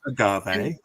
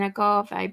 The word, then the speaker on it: agave: for that that word Agave the American pronunciation is what I was saying Agave but the British one is a gave or something so take your pick I don't know I